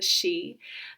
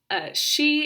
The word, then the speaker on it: Sidh: stolen baron and the she the word baron means child and she is spelled s-i-d-h so if you see it written out somewhere you might not think it is pronounced she but that's the way